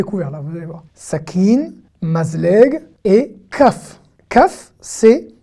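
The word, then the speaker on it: סכין: D'accord, le noun à la fin, le noun sofit, que vous voyez à la fin, n'est pas vocalisé, il se prononce en e muet. Sa, ki, n. Sakin.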